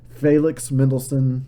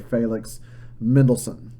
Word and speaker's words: Felix Mendelssohn: Felix Mendelssohn is the way I've always heard it pronounced.